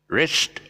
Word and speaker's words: wrist: the wrist it's a wrist okay if you're wearing a wrist watch then it's uh the silent the w sound for the wrist but it's uh pronounced